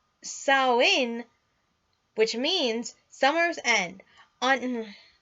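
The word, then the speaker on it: Samhain: the year for them they called did saham pronounced saw in which means Summer's end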